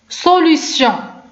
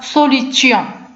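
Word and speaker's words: solution: سوليسيون، يعني ما كنطقش بها سوليتيون لان كاينه اي و او و ان، دونك غنطق ب سوليسيون.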